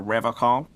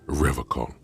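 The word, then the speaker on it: Revachol: He pronounces Revocol with a hard K, unlike other people. You said Revocol? I like to pronounce it the hard way. The old way. The Vespertine way.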